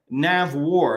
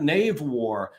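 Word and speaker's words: NAVWAR: Navy and they've got nav War it's not Nave War uh it's not uh Nave sea or something understanding how to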